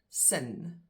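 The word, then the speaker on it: s'n: s little comma n is pronounced sin like the word sin for your sins in English or the word sin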